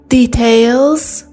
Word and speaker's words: details: Can I please have your account details? توجه داشته باشید که کلمه details میتونه به صورت details هم تلفظ بشه.